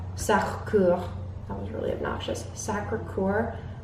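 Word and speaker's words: Sacré-Cœur: that was really obnoxious sacre couer is the American way to pronounce it the big church in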